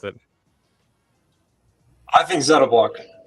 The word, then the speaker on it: ZettaBlock: is it Zeta or Zeta how do you pronounce it I think Zetta block Z Perfect all right we'll go with that